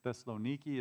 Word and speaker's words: Thessaloniki: than i do latin i think it's thessaloniki is how it's pronounced but you can go